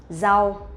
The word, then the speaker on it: rau: But for Vietnamese people, when we pronounce the R sound, we will not pronounce like R in English, but we pronounce like Z sound in Vietnamese or in English, rượu.